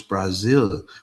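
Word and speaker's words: Brasil: It's not Brazil. It's Brazil with an S."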